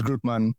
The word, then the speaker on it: Grutman: I don't even know how you pronounce it. It's Grutman.